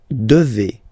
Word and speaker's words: devez: And then vous devez. Remember, classic ending for vous here, a Z, but then you pronounce this combination of two letters, et, devez, devez, vous devez.